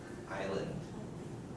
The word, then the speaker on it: island: have to drop something I thought you pronounce this word Island yeah so that s and L also seems to have a relationship okay so again there